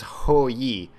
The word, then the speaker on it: Hou Yi: But yeah, not only is it live, but we have a new god, whose name, as he pronounces it is Ho Yi.